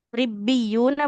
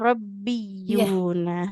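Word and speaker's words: رِبِّيُّونَ: Kemudian yang ini ribbiya, bukan rabbiyuna harakatnya.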